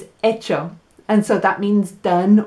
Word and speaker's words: hecho: i miss you and it sounds the same but the spelling is different echo is spelt e-c-h-o but what we're studying esta semana starting today is echo which is spelled h e c h o and it